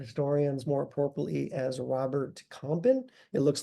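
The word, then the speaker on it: Campin: known by Art historians more purply as Robert compen it looks like campen but it's pronounced compen this painting is at the metrop Museum of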